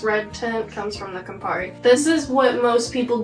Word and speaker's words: Campari: The biggest flavor that you're tasting in here, though, is Campari. How do you pronounce that? Campari.